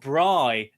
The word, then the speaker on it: Bri: Bri, not Brie, because I kept saying her name wrong. Bri.